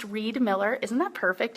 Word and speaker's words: Riedmiller: is Stacy Reed Miller my last name is pronounced Reed Miller isn't that perfect it's